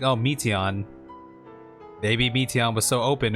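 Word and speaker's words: Meteion: Meteon. That's how you pronounce that.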